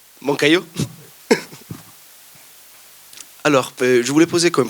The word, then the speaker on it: Moncayo: C'est la bonne prononciation? Moncayo.